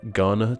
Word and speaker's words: Ghana: The H is silent in the names of the nations of Bhutan, Ghana, Thailand, Liechtenstein, just to name a few.